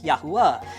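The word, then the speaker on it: יהוה: Waw, Hey, Yod, Hey, Wow, Hey, which is pronounced Yahuwah.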